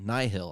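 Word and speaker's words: Nihil: up against this new villain called the nihol nyhil i think is how you pronounce it they're basically star wars vikings and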